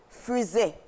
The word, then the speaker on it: faisait: Donc c'est « faisait » à la prononciation, mais cela s'écrit F-A-I-S-A-I-T pour le singulier, et puis pour le pluriel, on va l'accorder.